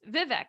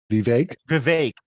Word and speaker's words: Vivek: says that Jonah pronounced Vivek wrong that it rhymes with cake right I learned that from Edgar wait but how do you be vague I think I said